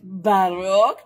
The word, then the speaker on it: Baroque: But there are those who say that every time that I say a certain word, which rhymes with joke, but it's Baroque, that you may want to have a sipsy of your favorite beverage, whatever that may be.